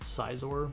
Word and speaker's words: Scizor: I don't know how you guys say it. I'm pretty sure I say it Scizor. Scizor is the right way to say it.